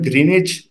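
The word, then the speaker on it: Greenwich: फिर यूके का एक कस्बा है ग्रीनिच। लिखने में इसको ग्रीनविच लिखा जाता है, लेकिन बोलने में इसको ग्रीनिच कहा जाता है, डब्ल्यू साइलेंट हो जाता है।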